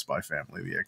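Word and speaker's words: Spy × Family: And then now that it's an anime, he's like, no, it's Spy Family. You don't pronounce it.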